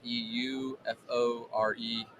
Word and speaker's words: Euforeia: It's EUFOREIA golf. It's spelled like 4.